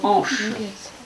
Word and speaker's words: anche: C'est un instrument primitif, celui-là, qui possède une petite languette ici qu'on a découpée dans le roseau et qui s'appelle anche. Et ça s'écrit...